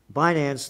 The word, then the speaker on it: Binance: Binance, the world's largest, is that the way you pronounce it? Binance? Yep. Binance, the world's largest cryptocurrency exchange, said it would